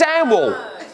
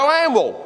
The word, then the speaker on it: Hanwell: And that's not how you pronounce it. It's Hanwell. All right? Get it right. Yeah, don't go no, because that's how you say it. You go Hanwell. All right? You drop the H and you stick an A where an E should be.